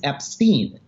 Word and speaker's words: Epstein: pronounce Epstein or Epstein it is not up for debate the correct way to pronounce Brian's last name is Epstein and why is that not up for debate because that's how the family says it if the Beatles say